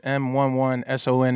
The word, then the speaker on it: M11SON: M11SON. It's just pronounced Mason, you know what I mean?